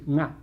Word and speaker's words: nga: One notorious thing about Navi is that it has this NG sound at the beginning of a word. So the word for you is nga, N-G-A.